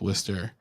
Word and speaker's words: Worcester: I always tell people at work when they can't pronounce Worcester. I say Worcester rhymes with blister, and that seems to work.